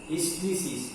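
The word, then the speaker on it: hysteresis: এটাকে বলা হয় হিস্টেরিসিস। HISTERESIS SIS এর বাংলা উচ্চারণ তাই হবে হিস্টেরিসিস।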